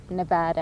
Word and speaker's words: Nevada: vaccine it became readily nevada as they say yeah that's true that's the right way to say it became readily available quite